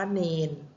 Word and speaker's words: เณร: คะ อัน นี้ คือ คำ ว่า เณร แต่ คำ อ่าน นะ คะ เรา จะ เขียน ว่า ที่ สระ เอ นอ เณร แล้ว ก็ นอน หนู นะ คะ เรา ก็ จะ อ่าน ว่า เณร นะ คะ คำเขียน คำ คำเขียน ที่ ถูก ต้อง คือ ต้อง เป็น รอ เรือ เป็น ตัว สะกด แต่ คำ อ่าน เรา จะ ต้อง เปลี่ยน เป็น ตัว นอ หนู นั่น เอง นะ คะ ส่วน มา